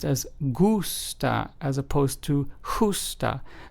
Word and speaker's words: gusta: t a which means like in Spanish is pronounced as gusta as opposed to to H so just remember